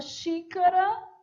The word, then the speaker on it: xícara: E na palavra xícara, som de X mesmo, xícara.